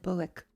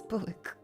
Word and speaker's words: Buick: Cuz I said Buick. The the the call. I I said Buick cuz I thought it was Buick. It's apparently Buick. So I I was like, "Do you see that Buick ad?"